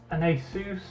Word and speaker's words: Asus: The motherboard is an Asus, I think is how everyone pronounces it these days.